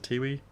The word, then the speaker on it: Tiwi: or so, and then he went back to Tiwi Islands. I think I'm saying that right. Is it Tiwi?